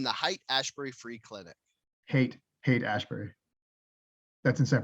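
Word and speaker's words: Haight: hate i was like hate ashbury but then i was like i was like yeah so it's it's pronounced like hate and sometimes i want to overcorrect to be like height aspirate but yeah you're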